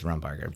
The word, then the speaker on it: Rumbarger: You can pronounce it literally any way you want. It's fine. Yeah. No, it's seriously, it's Rumbarger.